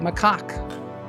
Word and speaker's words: macaque: That's how you say it, macaque.